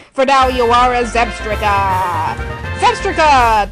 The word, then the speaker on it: Zebstrika: For now, you are a Zebstrika! Zebstrika! That rhymes with swastika!